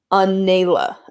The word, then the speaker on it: Anela: For those of you who want to know, you pronounce my main character's name as Anela.